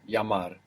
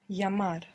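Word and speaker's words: llamar: a phone call is yamar yamar l l and we said this Double L creates a y sound in most Spanish dialects just like the y l a m a r yamar yamar good and we said that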